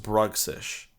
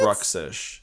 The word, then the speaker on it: Bruxish: It's pronounced Bruxish. Is it? Bruxish.